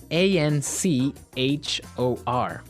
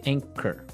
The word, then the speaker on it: anchor: Now, it's spelled a n c h o r, right? But you don't pronounce the ch as you normally would, right?